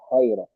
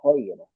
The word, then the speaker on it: خيرا: Jazakillahu khayra. Is to work on the kha. It's not K. You're still pronouncing the kha as a ka.